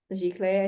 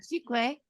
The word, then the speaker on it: giclée: I don't know if I'm saying that right. Giclée, I think that's how you say it. Giclée.